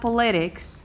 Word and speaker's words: politics: The first thing is I divide the word first. You have po-le-tics. I count 1, 2, 3. It ends with x. X is here. I stress the second syllable counting from the end. 1, 2, stress. Politics.